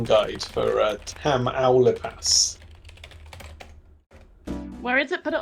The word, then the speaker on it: Tamaulipas: Oh, Josie's given us a pronunciation guide for Tamaulipas. Where is it? Put it on screen again. Yeah. Tamaulipas. Which Josie? Which syllable is emphasized? It's typically the penultimate vowel sound in Spanish, unless Tamaulipas. Yes. Tamaulipas.